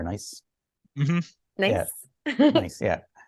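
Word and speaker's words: gneiss: The nieces are nice.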